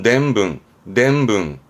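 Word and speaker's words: 伝聞: 전문이라는 거는 들어서 전해주는 걸 전문 그러죠. 발음은 냄붕.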